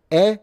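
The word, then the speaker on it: へ: You usually can choose between ni and e which is spelled which uses the hiragana that would be h e but they actually read it without the aspiration.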